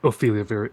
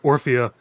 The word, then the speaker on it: Orphea: and talked to uh Ophelia Ophelia I just said it wrong thank you my brain went Ophelia that's Hamlet uh orphea and just kind of